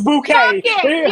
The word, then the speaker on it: Bucket: name was uh B they spell her bucket it was bouquet was bucket yeah yes and she